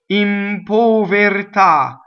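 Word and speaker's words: in povertà: the P right so impo very tah impo very top so the accent is on the last syllable right all of the O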